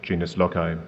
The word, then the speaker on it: genius loci: said you talk about the genius loai and I'm going to call it that because as we know the Romans were were British so we can use the English pronunciation um the idea of